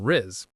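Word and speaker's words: rizz: The pronunciation is one quick syllable. Riz r i z. It rhymes with is or fizz.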